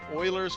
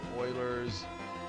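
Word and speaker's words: Euler: And this is Oilers's formula. I always pronounce them right over here. And this right here is Oilers's or Oilers's formula.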